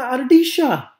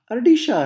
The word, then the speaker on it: ardilla: And if you know anything about Argentinian Spanish, you know that they pronounce the double L as a sh sound. So they would, instead of ardilla, my friend said, oh, look, una ardilla, ardilla.